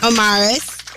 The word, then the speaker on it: Omaris: We don't want to get your name wrong. O-M-A-R-I-S.